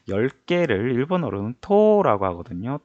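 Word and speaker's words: 十: 10개를 일본어로는 토라고 하거든요. 토. 그래서 토오라고 적혀 있는데 실제 발음은 토오가 아니라 토. 해서 토를 두 박자로 끌어줘요.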